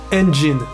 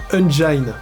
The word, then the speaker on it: engine: les logiciels de son se prononce engine pour une raison mystérieuse dans les milieux du visuel français il se répand beaucoup sous la prononciation unine les gars je sais